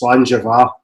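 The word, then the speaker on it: Sláinte: It's Slanja is spelled Slainte, which is probably why anybody reading it doesn't come out with Slanja.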